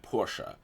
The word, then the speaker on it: Portia: to Mike hime at Porsche that's how the devs pronounce it though the game does sometimes say Portilla how honestly this was